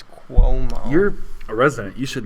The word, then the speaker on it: Cuomo: me how it's pronounced I found out I've been saying it wrong it's Kuo you're a resident you